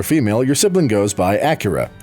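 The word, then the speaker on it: Akira: Whichever choice you make, male or female, your sibling goes by Acura. Yes, that's how they say it in the game, and accompanies you throughout the game.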